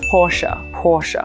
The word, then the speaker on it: Porsche: please remind everybody that this car name has 2 syllables. I said, okay, Porsche. Of course, a lot of people in the English-speaking world just call it Porsche, but if you go strictly by the German name, it's Porsche.